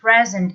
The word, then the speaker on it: present: you can say be present at make sure that you pronounce this word present with the stress on the first syllable or you can say